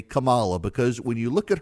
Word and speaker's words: Kamala: become the first woman president he called her Camala that's what the Democrats on CNN hung their hat on why does he call her Cala instead of Kamala why does he call her Kamala because he's